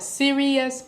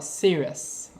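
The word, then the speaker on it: Sirius: of it is Sirus now people call it sirious but I call it Sirus all right so that's what I'm goingon to be saying so please don't worry about it and say oh you saying it wrong cuz I know what I'm doing okay the Greeks called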